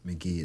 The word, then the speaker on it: Mk.gee: This artist named McGee. It's spelled MK.GEE.